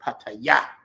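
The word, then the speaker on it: Pattaya: You guys, I know we say paya, but you're supposed to say, you got to hit the last syllable, paya.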